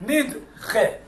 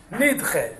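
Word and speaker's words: נדחה: Nidche. Nidche. Nidche means pushed off. That's how you say it in English. That's how it's spelled in Hebrew.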